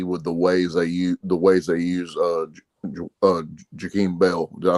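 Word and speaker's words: Jaheim Bell: For me personally, I'm going to be more excited to see with the ways they use Jakeem Bell.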